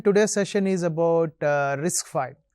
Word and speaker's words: RISC-V: of all it's pronounced risk five right a v symbol it's a Roman Roman V so it's number five risk five we'll get